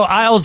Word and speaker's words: Isles: Yeah, so Isles like islands, right?